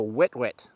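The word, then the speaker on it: huet-huet: of the species is called the wet wet which is spelt h-u-e-t-h-u-e-t it's a spanish word and they're part of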